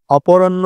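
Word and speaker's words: অপরাহ্ণ: এখানে হ সংযুক্ত ন যুক্তাক্ষরটি উচ্চারণ ন হ এর মত হবে অপরাণ্য এ বিষয়ে আমার কোন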